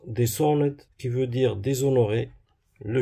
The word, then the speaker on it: Dishonored: Et pour le dernier, ça se prononce Dishonored, qui veut dire déshonoré.